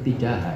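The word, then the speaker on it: تجاه: atau semacamnya terhadap tujaha, ya bacanya tujaha bukan tijaha. Tujaha insan kepada, tujaha itu pada, tujaha hadil mas'alah. Tapi sebetulnya yang benar tijaha itu.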